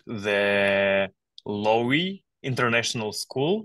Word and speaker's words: Lowy: of it called The Lowry international school if I pronounced it correctly yeah with a W in the middle yes okay so uh how we